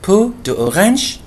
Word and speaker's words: peau d'orange: فجلد البرتقالة peau d'orange, لذلك تنطق peau d'orange مش peau d'orange, peau بعدين d'orange, هذا النطق الأصلي لها peau d'orange.